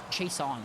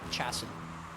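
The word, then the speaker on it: Chason: but his name is spelled c-h-a-s-o-n yeah it's pronounced chase chase on why isn't it like chassis no because we're taking advantage of english being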